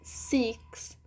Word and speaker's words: six: o i em inglês elas falam Six mas o certo seria six six cois são de